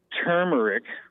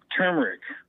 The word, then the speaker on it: turmeric: just wanted to say it's turmeric turmeric ter turmeric okay is how you say it some people call it turmeric and I wanted to call it turmeric yeah and that's fine too because you're using the